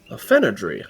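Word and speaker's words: Fenodre: Can you spell that for me? F E N O D R E. Aenadry.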